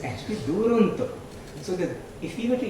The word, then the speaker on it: Duronto: No, Duronto is Duronto, the far end. Very few people can pronounce it correctly. Many people pronounce it like the Canadian town Toronto. It's actually Duronto.